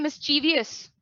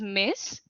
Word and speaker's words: mischievous: सो आप क्या बोलते हैं? मिसचीवियस, मिसचिवस। प्रोनाउंसिएशन क्या है? मिसचिवस। What is the correct pronunciation? It is mischievous.